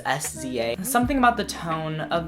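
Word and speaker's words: SZA: Drew Barrymore by siza I actually had to look up how to say her name because it's s Za something about the tone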